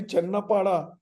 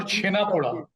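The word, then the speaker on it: Chhena poda: Maybe Sanjeeb can assist you, or the Channapada, which also comes from there, which is really like a That's more chena poda.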